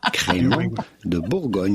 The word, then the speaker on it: Crémant de Bourgogne: I think we have the correct pronunciation queued up there for you. Crémant de Bourgogne.